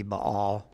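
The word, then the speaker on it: Baal: uh then there's uh all barbell however you want to pronounce it should be ball came about because of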